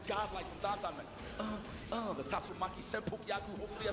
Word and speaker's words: Tatsumaki Senpukyaku: The Tatsumaki Senpukyaku. Hopefully I said that right. Oh yeah, perfect. Perfect pronunciation as we get the side switch, but